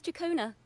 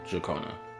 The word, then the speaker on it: Jacona: My name is Jacona, a wandering bard. I'm glad to have met you. Jacona. Okay, that's how you pronounce her name. Jakona.